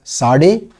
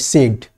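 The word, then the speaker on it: Sadé: Some people pronounce it as SADE, some call it SAID.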